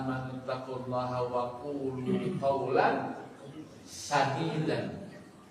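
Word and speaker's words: سَدِيدًا: Ya ayyuhalladzina amanu taqullaha wa qulu qawlan sadidan. Sadidan, bacaan yang benar. Dibacanya bukan sin dengan shin.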